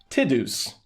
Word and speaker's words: Tidus: of a trauma, like I'm going to actually be the first to say his name correctly, Tidus.